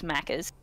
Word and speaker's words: Macca's: Macca's. It's an A. Pronounce the A at the end.